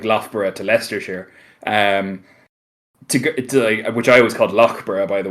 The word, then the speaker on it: Loughborough: outside of London say you go from like Loughborough to leicestershire um by the way because that's how we pronounced that and they laughed at me for